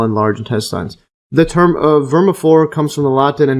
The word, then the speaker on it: vermiform: And the appendix or vermiform, see the pronunciation?